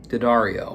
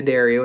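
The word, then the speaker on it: D'Addario: Um, Dario, and that's how you say it. Um, once again, I have said it all other ways in the past and I have been shamed into oblivion and said it's not Dario, it's not Dario, it's Dario.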